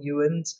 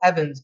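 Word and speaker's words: Ewens: i should probably say his name is actually michael evans but if you want to search for him it's e-w-e-n-s so i'll say ewan's for everyone else but mike's great and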